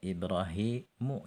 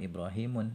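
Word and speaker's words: إبراهيمُ: ini kepakai gitu ya Misalnya Ibrahim Narti Bacanya ibrahimu jangan ibrahimun ismailu seperti itu ya karena nama Non Arab gitu ya Ini penting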